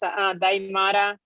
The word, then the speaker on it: Daimara: You pronounce it Daimara, like the movie Die Hard.